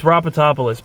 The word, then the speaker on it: Rapatopoulos: It's Rapatopoulos, by the way, that's how you say it.